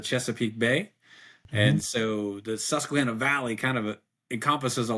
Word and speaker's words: Susquehanna: So give us a little bit of background on your region and pronounce it again. It's the F3 Susquehanna Valley. Susquehanna Valley. Susquehanna Valley, yeah.